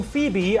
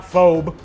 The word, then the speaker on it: Phoebe: mila fast finale live saturn's moon phoebe i know how to pronounce that one it's not phobe hopefully not last place